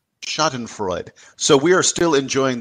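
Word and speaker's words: Schadenfreude: it shouting for uh the Google pronunciation is Shaden Freud shoten Freud so we are still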